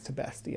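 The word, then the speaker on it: Tibesti: I think it's Tebesti. I think I was saying it wrong earlier.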